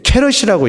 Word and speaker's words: 캐럿: 단어가 궁금하지 않아요 여러분 k는 금의 선도를 나타내는 단위입니다 이걸 읽을 때 캐럿이라고 읽습니다 24캐럿 우리는 약 24k 그러잖아요 그래서 중동지역에서 나는 식물의 한